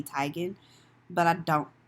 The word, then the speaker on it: Teigen: Teigen was on there her name is apparently not Chrissy Teigen it's Chrissy Teigen but I don't like